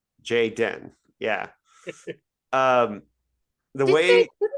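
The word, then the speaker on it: Jay-Den: processed it like doesn't I believe it's pronounced Jay Dan. Jay Den.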